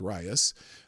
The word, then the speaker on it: Rias: Oh, Rias. Okay, that's how you pronounce it. Rias, pronounced Rias, was assigned male at birth.